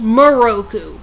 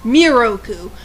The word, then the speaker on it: Miroku: weeny mistake with moku they have his name pronounced moroku when it's miroku but then again it's